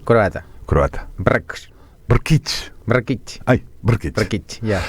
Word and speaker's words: Brkich: pronunciado tu apellido no Cómo se pronuncia br r K brk brk br es una I y una ch brkich Y eso es croata croata br brkich brkich Ay brich y